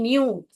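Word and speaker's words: knew: इफ ही न्यू, न्यू यानी कि यहाँ पर इसको न्यू पढ़ते हैं, हालांकि ये भी न्यू ही है। ये के जो है साइलेंट है।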